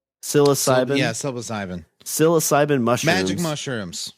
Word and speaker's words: psilocybin: even pronounce this word silva sinbin p-s-i-l psilocybin yes ivan psilocybin magic